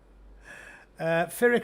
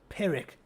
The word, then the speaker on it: Pyrrhic: Pyrrhic. The Americans say Pyrrhic. It's Pyrrhic. Pyrrhic victory. Not Pyrrhic. Pyrrhic. I'm certain of it.